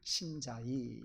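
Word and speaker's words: 山寨: 짝퉁, 모조품, 복제품, 유사품, 이런 여러 가지 의미로 산채라고 하는 말이 쓰여지는데 중국 발음으로는 신자이 그렇게 발음합니다.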